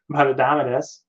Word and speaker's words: Indomitus: The point I was bringing about Indomitus. I mispronounce. I keep Indomit. It's a tuss, right? It's not Nuss. It's Tuss. Indomitus, right?